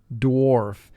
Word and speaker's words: dwarf: Dwarf. Here AR is preceded by the W sound, causing AR to represent the sound OR.